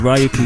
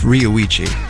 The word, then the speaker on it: Ryuichi: background you can hear ryuki sakamoto i think that's how you say it uh i think it's ryuichi but really close enough all right then that's